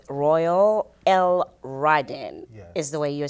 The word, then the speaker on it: L'radin: Royale L. Ryden is the way you say it.